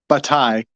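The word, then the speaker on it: Bataille: it's all Frenchy but this guy batai there's a silent l in there um he has uh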